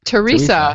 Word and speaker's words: Theresa: name then I'm totally blanking for a second Teresa Teresa okay say Teresa Teresa Teresa Explains It